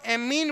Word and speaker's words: ammine: ये अमीन है, अम्मा वाला, तो एमीन, जबकि वो अमीन है। तो अमोनिया को अपन क्या बोलते हैं? AMMINE, एमीन। प्रोनाउंसिएशन करेंगे तो कैसे बोलेंगे? एमीन। जबकि सिंपल ऑर्गेनिक केमिस्ट्री में अमीन होती है, अमीन, अमीन। ये एमीन है।